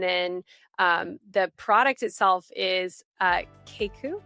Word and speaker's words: Keikku: And then the product itself is Keiku, right? Is that how you say it? Yes. Keiku?